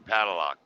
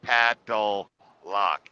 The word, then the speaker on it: padlock: a hard time pronouncing one of my biggest ones you're gonna find this out when you get in the truck meta is saying padlock I say paddle lock it I cannot remember